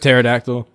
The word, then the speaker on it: pterodactyl: space uh uh performative pterodactyl it's what it's p in the beginning did you know that